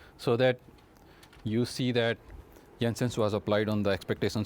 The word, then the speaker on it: Jensen: it Jensen some and I prefer call it Jensen because I believe it's in it's a Denmark name of the person from Denmark and there they pronounce j s y okay so I think it's proper to say yes and Jensens okay so